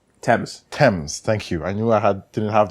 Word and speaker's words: Thames: used to deliver loads up and down the Thames that it aims right Thames Thames thank you I knew I had didn't